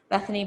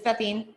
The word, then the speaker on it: Bethine: Bethany. Did I say that wrong? Bethine, that's close. It's Bethine.